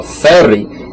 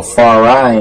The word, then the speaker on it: Feri: You understand, when we call ourselves Farai or Feri, it actually means coward. You understand, look that up. Ask any Ethiopian who really understands their language, you understand? Feri, you understand, or Farai in mispronunciation.